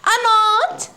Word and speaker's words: knot: K is silent over here. Means K is not pronounced.